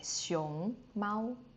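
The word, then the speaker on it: 熊猫: Like xiong mao. Xiong is going up, right? Xiong xiong like go up mao is like the first tone.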